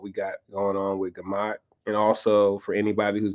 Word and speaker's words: Gemach: Gemach is a... that's how you say it, Gemach? Yeah, Gemach. I always call it GMAC.